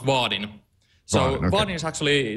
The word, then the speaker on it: Vaadin: about yeah sure so first of all it's pronounced vardin so Vin is actually it's a framework for